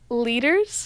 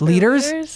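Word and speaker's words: Lueders: Carson how do you say his last name? Leaders? Leaders? Oh, wow. There's a U in there. That does not look like leaders to me.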